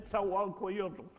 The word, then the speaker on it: Nezahualcóyotl: Can you pronounce his name again? Nezahualcóyotl.